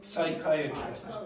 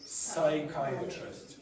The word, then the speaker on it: psychiatrist: Do not pronounce the P when you have words that begin with PS. Do not say psychiatrist. Say psychiatrist.